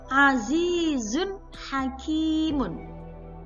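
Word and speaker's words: عَزِيزٌ حَكِيمٌ: Jadi cara membacanya adalah jelas. Nunnya dibaca dengan jelas.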